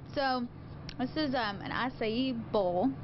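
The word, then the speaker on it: açaí: about acai so that's the proper way to pronounce it acai not Akai or Akai or whatever else people say so it's assaya just learned that too recently that was pronouncing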